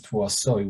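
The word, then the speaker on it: תבואתה: Now the pasuk, even though it's pronounced Rishis Tevouata with a vav sound, it's written with a hey, which makes it sound like we are the tevua of Hashem.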